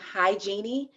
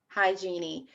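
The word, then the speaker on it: Hygenie: more about this yes my company is named hi genie and it's spelled h-y-g-e-n-i-e-e hi genie and you can follow us on instagram that's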